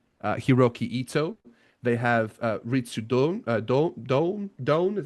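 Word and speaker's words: Ritsu Doan: They have Ritsu Don, is that how you say it?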